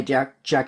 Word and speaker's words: Jac: It's when they say directed by Jack Schaefer, or Jace. I don't know how you pronounce her first name.